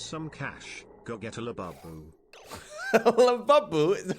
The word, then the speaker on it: Labubu: Go get a labubu. Labubu is how you pronounce it.